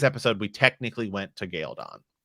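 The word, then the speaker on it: Caemlyn: this stuff but technically we're in galedon or as i still call it because it's how it's pronounced in the books gildon um so you could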